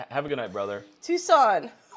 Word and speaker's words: Tucson: a good night brother Tucson okay he so it's not tuxen so glad I'm so